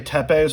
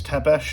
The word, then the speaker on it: Tesh: knives I always say Tes but it's Tesh it's I always say it wrong but this from BW